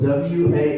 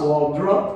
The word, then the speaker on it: Waldroup: And his last name is spelled Waldroup. Waldroup, right? Yes. Not Waldrup or Waldrop or anything else.